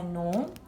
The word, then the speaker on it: gnaw: In gnaw, the g is silent. We don't say gnaw, we say gnaw.